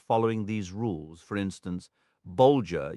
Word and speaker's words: Bolger: For instance, Bolger uses a G as in the word bulge, and Matham rhymes with fathom.